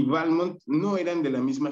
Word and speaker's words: Balmont: a veces digo balmonto a veces digo balmont esto es porque según estuve investigando el padre de su padre de de decía que tenía que acentuarse en la primera letra es decir el pronunciado balmont pero después Este su primera esposa de balmont ella dijo No no no se debe decir balmont Entonces digamos que hay